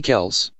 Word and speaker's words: Kelce: by both pronunciations meanwhile Jason ever the rebel prefers the mispronunciation he's even got a warning for fans don't call me Kels but that's not all